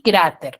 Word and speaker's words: cráter: Y cráter, ¿no? También porque su sílaba tónica está en cra y termina en una R.